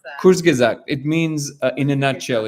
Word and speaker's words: Kurzgesagt: How do you pronounce that? Kurzgesagt.